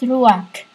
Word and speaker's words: Ruach: I don't care how you pronounce it in your world. I say it RUACH.